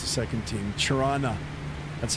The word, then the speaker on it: Toronto: Torana. That's how we pronounce it. Tana.